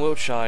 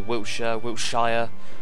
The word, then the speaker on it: Wiltshire: Nothing from Wiltshire yet. Or Wiltshire, as the Americans say.